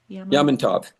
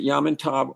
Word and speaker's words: Yamantau: Yamantov. Yamatov You can Mountain? pronounce it Yamantov or Yamanto.